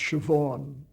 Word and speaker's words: Siobhan: How about Plays of the Irish Renaissance with Sabayan McKenna? Oh, yeah. By the way, I had to learn that in Ireland, that spelling, Siobhan, is pronounced Siobhan.